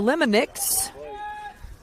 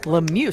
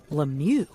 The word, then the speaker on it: Lemieux: walk that brings up Sienna lonix for the force oh l i butchered that Lemieux somebody should have told me Lemieux that's why you like